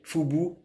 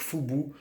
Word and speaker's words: FUBU: Ok, Fubu, F-U-B-U. Donc s'il te plaît, ne prononce pas ça à la française en disant Fubu, s'il te plaît, ça ferait vraiment trop naze.